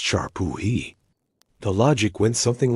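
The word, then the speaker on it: šar pūhi: One of the most fascinating and disturbing practices was the substitute king ritual, or Zarpiki, pronounced Sharpuhi.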